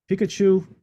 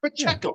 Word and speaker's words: Pacheco: Pikachu, I call him Pikachu. I can never pronounce his name from Kansas City. Pacheco. It's Pacheco. Yeah. It's not that hard.